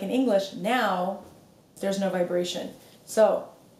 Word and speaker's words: não: no no also it's this is a big difference from how Spanish speakers tend to pronounce no as they start Portuguese cuz you need to open your mouth otherwise it's going to be more like no correct but it's now now so use a mirror